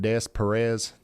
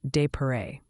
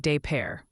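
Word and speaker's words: Des Peres: It's called Des Perez. Oh. Oh, honey. It's actually pronounced de pare, like de pair.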